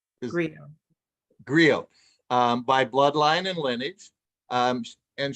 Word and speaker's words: griot: But she describes herself as a garrote, and am I saying it correctly? Garrote? You're muted. She said griot by bloodline and lineage.